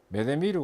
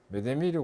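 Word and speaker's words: 目で見る: 일본말로는 이거 메데미루 관리라고 합니다. 메데미루 관리라고 읽는데 표기할 때는 전부 다 영어로 대문자로 MM 관리, 메데미루 관리 해가지고 MM 관리 이렇게 씁니다.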